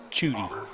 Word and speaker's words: Schutte: Not only is the T silent, the S. Just Schutte. So that his name starts with a T, the second letter is S, and you just have to pretend they're not there when you pronounce his name.